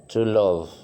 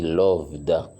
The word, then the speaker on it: loved: to love on dit on dit pas lov mais on dit loved età dit ici et